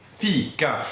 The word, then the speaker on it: fika: Fika. And it's very important that you pronounce the I as E. And yeah, well, you need to have that E sound.